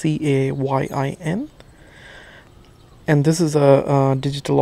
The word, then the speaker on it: Cayin: Pardon me if I pronounced it wrong. It's Cayin.